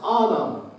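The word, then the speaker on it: אָדָם: let us make man that that word is pronounced autumn then let's make autumn in English it spelled in lowercase I am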